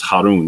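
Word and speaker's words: هارون: son of elazar and this is Haron this is the this is how you say Aaron or Aron in in in Arabic so this is Phineas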